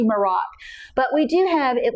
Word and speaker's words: Merach: We like Merax. It's m e r a c h. We kind of differ on how we pronounce it, but it might be Marax.